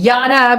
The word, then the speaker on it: Yara: Pay attention to the R because her name is spelled stupid. It's Yara, but it's YARA.